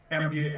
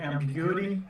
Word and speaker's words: ambiguity: I know how to pronounce it in my head, but it won't come out of my mouth. It's Ambuigty. Ambiguity?